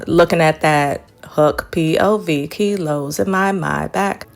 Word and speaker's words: Maybach: at that hook pil my back. I love how Pusha says my back instead of Maybach. What is the proper pronunciation for those who buy cars or who are into cars?